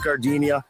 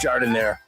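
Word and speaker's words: Giardiniera: Hey guys, when you're at the counter, don't call it Gardinia. It's pronounced jard in there.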